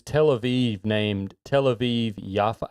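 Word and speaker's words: Yafo: when on Google Maps is Tel Aviv named Tel Aviv Yaffa? I think you pronounce it Yaffa in Hebrew, Y-A-F-O. I think it's Yaffa.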